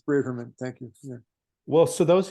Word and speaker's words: Braverman: pronouncing it right is it how do you pronounce it for some reason New York I say Braverman I don't uh okay it's brieferman thank you well so those who know me